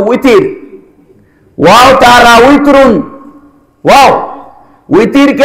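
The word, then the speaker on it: وتر: ওয়াও বাংলাতে বের উচ্চারণ হয় ওয়াও বাংলাতে কিয়ের উচ্চারণ হয় আমরা বিতির নামাজ বলি না বিতির বিতির বলে কোন নামাজ আছে নাকি এটা তো উইতির ওয়াও তারা উইতিরুন ওয়াও উইতিরকে আমরা বাংলায় কি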